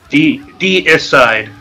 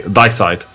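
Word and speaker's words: Deicide: Is D-side correct? D is side, technically. D is side. 3 syllables. Yeah, some Germans still say die-side.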